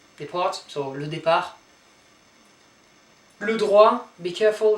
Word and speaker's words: droit: Le droit. So don't pronounce the last T here.